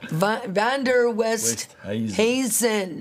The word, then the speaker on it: Van Der Westhuizen: Let's put that up so, because his name is a little bit, you know, Vander Westhuizen. Hazen. You say it right. Yeah. Let's help the people with that name. Yeah. And we can get it out of the way. Right. You know, Vander Westhuizen. That's it.